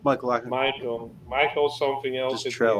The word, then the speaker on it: Michalakis: says on the screen when I can't pronounce his last name. Is on Michalakis. Michalakis. Yeah, if you just say Michael and then just say something else at the end, you'll be pretty Michalakis. close. Like Michalakis.